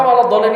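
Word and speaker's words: وَلَا الضَّالِّينَ: Maka waladhdallin ini adalah kaidahnya nabr, dihentak ketika masuk lam.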